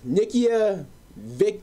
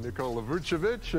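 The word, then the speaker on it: Nikola Vučević: though julius randle and nikia vic whatever should have been second to last picks bro can't say his name right but i got it right second time all-star nicole lavuchovic and he is on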